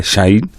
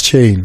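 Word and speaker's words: Chaine: by the Pirates goalkeeper shine or Chine did it cross the line or not you say it right it's chain chain chain now uh we look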